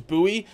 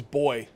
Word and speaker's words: buoy: it up the US there's actually two versions two ways to pronounce it the US version is Bui and the non-us version is boy so I'm from the US I'm gonna call it Bui sorry non-us people but that's the way it goes okay so